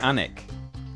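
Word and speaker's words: Alnwick: Yeah, Anik, Alanwick. Yeah, Anik has 2 silent letters in it.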